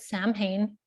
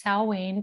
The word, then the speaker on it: Samhain: people will call it samhain apparently that is the worst way you could say it the closest we can get to is salwaine but apparently even that